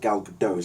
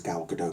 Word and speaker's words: Gal Gadot: I go any further her name is not pronounced gal gadot's at he can help gal gadot she's confirmed